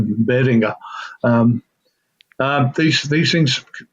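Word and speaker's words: Behringer: it and they proun pronounce it Beringer which shits me um not German but I'm pretty sure it be something more like Beringer um um these these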